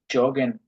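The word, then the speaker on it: joggen: এখানে এই যে জগেনের উচ্চারণটা ডিফারেন্ট, আমরা পড়ছিলাম যে, যে কে আমরা কি বলি, ইয়ট, এটার উচ্চারণ ওয়াই এর মতো হওয়ার কথা, কিন্তু এই জগেন শব্দের ক্ষেত্রে অলওয়েজ জগেনে হবে, এটা মনে রাখেন।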